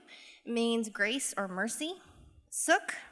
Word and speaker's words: Suk: Suk rhymes with hook or book, and it means dignity.